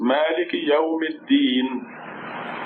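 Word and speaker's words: مالك يوم الدين: So if you say the whole thing and stop, then it sounds Maliki yawmi al-din. Maliki yawmi al-din. Maliki yawmi al-din. The alif and the lam are very often silent when you connect, say all the words together.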